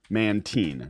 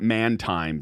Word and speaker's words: Mantine: it off of is called Mantine not man time because I pronounced it man time for at least like a month I have no